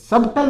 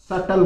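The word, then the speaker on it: subtle: thumbnail फिर देखो सटल हल्का या रहस्यपूर्ण इसमें बी साइलेंट रहता है सबटल नहीं बोलोगे आप सटल बोलोगे सटल हल्का या रहस्यपूर्ण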